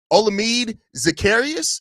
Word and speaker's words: Olamide Zaccheaus: The Chicago Bears went out and got Olamide Zaccheaus, I believe is how you pronounce his name, a 5'8", 193 wide receiver who played last year with the Washington Commanders.